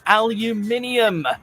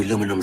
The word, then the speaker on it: aluminium: do aluminum siding Roofing this is one of the rare cases where a change in pronunciation has also caused a change in the spelling they really do skip out on the second ey in North America but actually this is